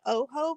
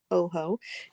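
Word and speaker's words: Ojo: art then I have the Oho book and that's how you pronounce that Oho um the God's eyes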